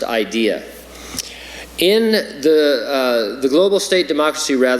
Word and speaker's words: IDEA: Institute for Democracy and Electoral Assistance, pronounced IDEA.